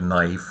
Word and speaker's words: knife: in Old Norse but English dropped that k sound over time and so did Norwegian